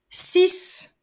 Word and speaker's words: six: remarques sur la prononciation 6 tout seul se prononce avec le S à la fin 6 devant une voyelle